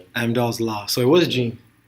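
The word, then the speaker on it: Amdahl: it correctly is it AMDal Amdal Corporation AMDall AMDall and were were they a subsidy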